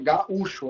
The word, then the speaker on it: gaúcho: Todo mundo concorda que o som forte é o U. Né? Não é gaúcho. Em espanhol tem a pronúncia gaúcho, né? Mas aqui é gaúcho a nossa pronúncia.